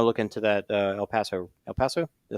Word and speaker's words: El Paso: El Paso?